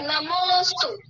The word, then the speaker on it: नमोऽस्तु: अस्तु नहीं लिखना है, वहाँ पे अ नहीं है, अवग्रह है, नमोस्तु।